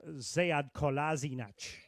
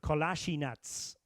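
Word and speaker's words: Sead Kolašinac: He actually had two pronunciations. One was the Bosnian pronunciation and one was the German pronunciation. So it in German it was uh Zad Kazinach and Bosnian it was you might remember the player of Bosnian yeah Bosnian parentage say Kalashinats um so so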